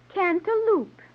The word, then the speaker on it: cantaloupe: form of musk melon though your pronunciation of the name leaves something to be desired okay what is it cantal Loop the name being derived